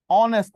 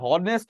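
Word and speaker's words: honest: যেমন বুঝছেন, অ্যান অনেস্ট ম্যান। এই যে অনেস্ট ম্যান, এইচ এর উচ্চারণ কি এইচ হয়েছে, হনেস্ট হয়েছে?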